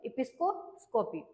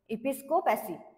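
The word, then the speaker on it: episcopacy: आहे आपला तो आहे एपिस्कोस्कोपी ओके सॉरी इपिस्कोपॅसी एपिस्कोपॅसी असा हा सेकंड वर्ड आहे आपला आणि त्याच्यामधला ऑप्शन डी जो आहे तो करेक्टली स्पेल्ट आहे काय आहे spelling E पी आय एस सी ओ पी ए सी वाय म्हणजेच इपिस्कोप पॅसी असं होते सो इपिस्कोपॅसी म्हणजे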